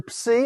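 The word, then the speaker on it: psi: split in half alright your pc of course corresponds in english in terms of pronunciation to the PS sound like you have in the word for lips pretty straight for the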